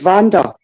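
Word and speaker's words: Wander: my Facebook profile now my name's not spelled with a V it's pronounced with a V my name's spelled with a W but I it's pronounced Vander so that's why it's spelled Vander on YouTube because it saves people call me Wanda all the time right and somebody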